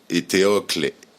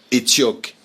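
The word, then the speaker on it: Étéocle: Ses neveux, Éthéocle et Polynice, Étioque et Polynice en créole, puisque les prénoms aussi ont une prononciation créolisée, se sont entretués.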